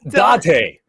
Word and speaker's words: Date: You're both saying it wrong. No end. How do you go Date and then Dante? It's Date. Date, right? Or yes, Date. Shit. Oh my god. Date. There we go. My there god. We go. Date. There's no N.